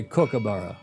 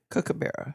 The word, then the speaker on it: kookaburra: It's pronounced as in cook, not kook. Well, we always say kookaburra. Cook. I thought it was the second part you were making fun of us for, Alistair. Cook. Kookaburra.